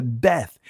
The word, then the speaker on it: Beth: As you see this letter right here, that is what the Bayath in Israeli language is pronounced the Beth.